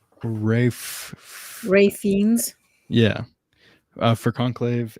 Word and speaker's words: Ralph: uh his it's his first name is not pronounced Ralph it's like Ray Ray fiend yeah for conclave and Sebastian Stan